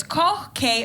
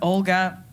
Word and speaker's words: Koch: my last name is k k c h it's meant to be pronounced K but if you're living in an englishspeaking country eight out of 10 times it is Olga I